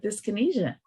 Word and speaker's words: dyskinesia: we want to hear more about part of dyskinesia and I'm saying it right correct you're right